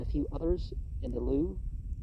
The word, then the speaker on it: Louvre: few others in the Louvre. I think that's how you. I think you just don't pronounce the VRE at the end.